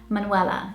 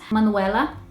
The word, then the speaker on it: Manuela: The way that we would say here in the UK is Manuela. So not that much difference. Manuela, Manuela. It's probably just the U sound.